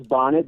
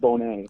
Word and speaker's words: Bonnet: Everybody says Bonnet, but it's actually pronounced Bonnet.